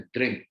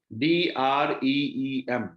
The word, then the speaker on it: द्रिम: इसका जो बीज मंत्र है उसको बोलते हैं द्रिम, DREEM, द्रिम। तो सांस को लेते हुए द्रिम का उच्चारण करें, सांस को छोड़ते हुए द्रिम का उच्चारण।